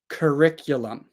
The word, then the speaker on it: curriculum: riculum now first sound C now everything together curriculum one more time slowly curriculum now one time